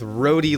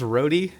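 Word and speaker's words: rhode: It's like a pair of lips with roadie lip gloss on it. Is that how it's pronounced? Roadie. Just road.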